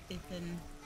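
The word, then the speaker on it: Iðunn: Edun. How do you pronounce that? Ethun. Ethun. I think that D is like a th sound. Ethun apples. Maximum health increase. Oh, sweet. Yeah, they said Ethun.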